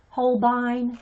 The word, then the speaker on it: Holbein: Oh, the word is German. Yeah. Okay, thanks. So, yeah, I've been pronouncing it right. Holbein. Yeah, they're Japanese made, but it's pronounced Holbein.